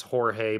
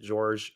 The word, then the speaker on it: Jorge: um it it the the name is Jorge but for some reason in the game they pronounce it George I don't have a